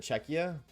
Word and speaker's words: Czechia: It's not Czechia, is it? I want to see. Is it Czechia? Oh, I said it right.